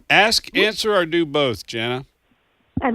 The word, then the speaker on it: Jana: Jana, that's it.